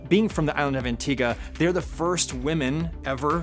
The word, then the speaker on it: Antigua: thought it was pronounced Antigua which is of course how you might read it but listening to the interviews online it actually is pronounced Antigua so I've learned something